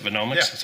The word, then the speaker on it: Venomics: So, Steve, in your presentation, you talked about how Venomics is that how you would pronounce it? Venomics?